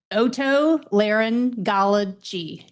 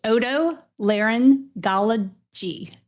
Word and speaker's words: Otolaryngology: All right, how do you pronounce that word? Let's get that out of the way. Otolaryngology.